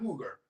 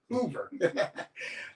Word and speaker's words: Hoover: be pronouncing that wrong Hoover not hoer Hoover so Lee Harvey also